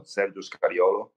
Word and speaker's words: Sergio Scariolo: You pronounce it pretty well. Sergio Scariolo, my name.